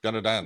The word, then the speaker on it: Dana Dan: started I was like what's the pronunciation I think it was Dan danad like we were saying but faster like danadan yeah kind of and